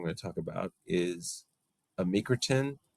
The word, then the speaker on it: amycretin: And then the next medication and the last one that I'm going to talk about is amycretin. I think that's how we pronounce it.